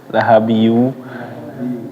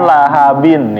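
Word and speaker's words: لَهَبٍ: Lahabi, ya kan aslinya kan lahabin ya, lahabin ketemu waw, bukan lahabiyun ketemu waw. Iya. Lahabiyu. Ayo diulang Bu Budi. Tabbat yada. Tabbat yada abi lahabin wa tab.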